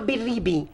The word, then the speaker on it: Biribi: Biribi.